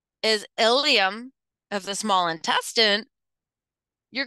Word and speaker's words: ilium: very confusing at times ilium and ilum these are pronounced the same i l IU M